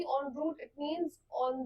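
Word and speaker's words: en route: word की वो उसे हम नाउंस करते हैं ऑन रूट ऑन रूट का मतलब होता है मतलब कहीं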